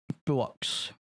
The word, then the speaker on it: Buochs: Buochs is a more correct pronunciation.